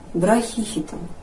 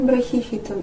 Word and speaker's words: Брахихитон: еще одно интересное растение браке хитом а может браке хитом а может брать хитон моды теперь здесь стоит ударение на первую букву и значит все-таки браке